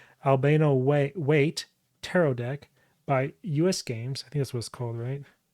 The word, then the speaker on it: Albano: So again, this is the Albano, how am I pronouncing this right? Albano Waite Tarot deck by US Games.